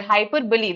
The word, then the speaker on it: hyperbole: Hyperbole. That's how we pronounce it.